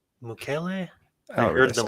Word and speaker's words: Mukiele: It's not Mukiele. Mukele.